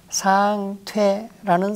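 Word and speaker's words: 向魋: 상퇴라는 사람이다. 성이 상시이다. 이 향할 향자는 성으로 쓰일 때는 상으로 발음을 합니다.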